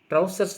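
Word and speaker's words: trousers: ஞாபகம் வச்சுக்கோங்க கரெக்டா படிச்சுக்கோங்க ட்ரவுசர்ஸ் தான் சொல்லணும் ஆக்சுவலா நம்ம பேண்ட் என்ன சொல்லணும் ட்ரவுசர்ஸ் ட்ரவுசர்னு சொல்லக்கூடாது இல்லையா பொதுவா நம்ம தமிழ்ல டவுசர் அப்படிம்போம் அப்படி சொல்லக்கூடாது சரியான உச்சரிப்பு ட்ரவுசர்ஸ் அதுவும் எஸ் சேர்த்து தான் சொல்லணும் ஏன்னா இரண்டு கால்கள் அதுல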